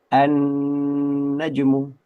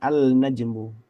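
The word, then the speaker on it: النجم: Ya, kita bacanya annajmu tidak dibaca alnajmu.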